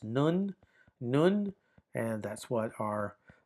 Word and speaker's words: nun: Uh, but it has an N transliteration value and it's pronounced nun.